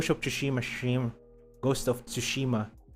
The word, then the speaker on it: Tsushima: to shimashim Ghost of tsushima how do you pronounce that tsushima and yeah I will see you on Saturday friends shushima I think it's just tsushima not tsukushima ghost of tushima yeah